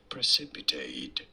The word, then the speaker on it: precipitate: do you say it precipitate precipitate you don't want to stress on the second syllable on the C syllable preate pre precipitate PR straightforward once you know precipitate and now you